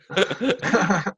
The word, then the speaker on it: Mantuano: Tap, So you gotta kind of say it like it is. So, you know, you gotta talk it like Mantuano. Mantuano.